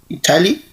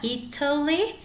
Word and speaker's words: Italy: it can be with Italy or instead of a t you can use like a in British English Italy and American English is more common to soften the tea uh Italy Italy okay and what's